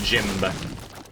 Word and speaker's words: Jimb: Moving forward, I'm going to remain Jim. Sorry, the B is silent.